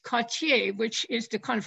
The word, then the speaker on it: Cottier: over Brooklyn Heights to find two churches with Cottier windows, which we did find, and which I'm